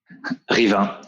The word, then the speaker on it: Rivain: Rivain, was that correctly pronounced? Rivain.